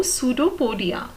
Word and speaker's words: pseudopodia: See student, here P is silent, so the correct pronunciation is pseudo. Okay, S-U-D-O, pseudopodia. Okay, P is silent over here.